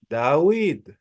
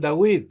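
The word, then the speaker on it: דָּוִד: es un pueblo semita ellos a la bab la pronuncian como u y ellos dicen dawid Ellos dicen dawid el rey dawid s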